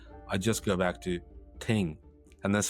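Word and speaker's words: 听: Now, the symbol is pronounced ting in Mandarin.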